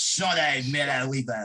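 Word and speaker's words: Shaunae Miller-Uibo: You gotta say it like the British. Shawnee Miller-Uibo.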